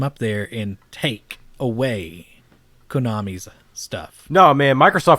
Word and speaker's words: Konami: It's Konami.